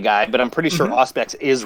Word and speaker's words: Auspex: But when I was a kid, I called it Ospe. And I remember being challenged, just kind of like, what language ends with a silent X?